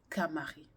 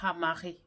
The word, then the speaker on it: Khamaré: Aujourd'hui, on va parler du camaré ou du hamaré, comme certaines prononcent, ou encore du vétiver, connu encore sous le nom de gongoli.